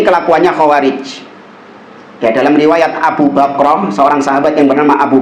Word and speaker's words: Abu Bakrah: Maka kata Abu Bakrah, bukan Abu Bakar, Abu Bakrah, dia mengatakan, uskut, diam engkau.